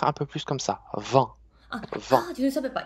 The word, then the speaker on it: vent: Vous prononcez un peu comme vin, mais Vent.